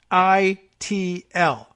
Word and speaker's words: Xochitl: So if you're familiar with those, you might have learned to pronounce it from there. It's Xochitl.